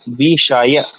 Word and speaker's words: विषय: तो विषय में क्या है देखिए, शा। कौन सा वाला है? ये मूर्धन्य सा। विषय, सही उच्चारण क्या है? विषय।